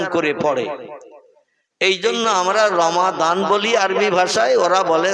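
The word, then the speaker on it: رمضان: মত অবলম্বী বা অন্য মতদর্শের মানুষ ওরা দোয়াত উচ্চারণটা ঠিক মতো করে না। ওরা দোয়াতকে, যেমন রমজান আরবি ভাষায় লেখা, ওরা বলে রমজান, বলে না?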